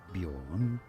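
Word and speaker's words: Björn: What is the correct pronunciation in Swedish? It is said as bjorn.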